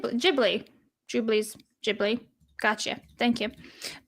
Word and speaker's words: Ghibli: Grateful Gamer says, "Jub Jubilee's boobs is pronounced similar to Gib. Jibli."